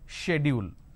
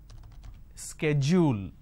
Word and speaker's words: schedule: people don't understand so the British pronunciation is schedule the American pronunciation is schedule now in India what we are doing is we are taking half of American pronunciation and we are taking half of British pronunciation and we end up pronouncing this as schedule this is where we